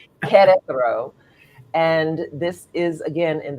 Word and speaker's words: Querétaro: It's not Querétaro. It's pronounced like with a K, Querétaro.